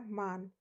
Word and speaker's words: Mann: For example, der Mann. So here the A after M has the sound of A. So we cannot pronounce it as der man. It is always der Mann, which means the man.